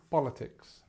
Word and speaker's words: politics: stress goes here um politics politics this is the schah that we talked about before this nice sound politics okay um so there